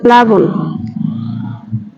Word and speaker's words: প্লাবন: ন তকার ক্লান্ত এটা হলাম হবে আচ্ছা প্লাবন প্লাবন সঠিক উচ্চারণ হবে বুন প্লাবন দেখো এখানে আছে ক্লান্ত